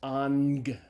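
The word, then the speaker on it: ἄγγελος: you hit that scenario the first gamma is pronounced as a gamma nasal as an end sound so like the Greek word for Angel is on gallows alpha gamma gamma but it's pronounced on gun okay a ng some so the third letter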